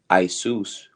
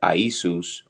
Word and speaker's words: Iesus: Late, it is the Greek form of Joshua, used variously in translations of the Bible from late Latin Isus, properly pronounced as three syllables, from Greek Iesus, which is an attempt to render into Greek the Aramaic.